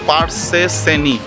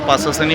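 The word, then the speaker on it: Pasar Seni: জায়গাটার নাম হচ্ছে পারসেনি পারসেনি ওরা পাসেনি পাসেনি উচ্চারণ করছিল যার জন্য আমিও সেইভাবে উচ্চারণ করছিলাম এখন যেটা দেখলাম স্পেল আউট করে পারসেনি মার্কেট সেন্ট্রাল মার্কেটও বলে এখানে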